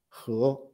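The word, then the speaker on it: 和: places you can see the chinese character it's pronounced as hu meaning yes harmony so actually this character represents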